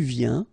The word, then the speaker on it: viens: Final S not pronounced, okay? And when you combine this IEN, you get this yin, yin.